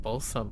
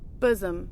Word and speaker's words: bosom: Or is it balsom? I I don't know how to pronounce this. Uh, hold up. Bosom. Yeah, it's bosom.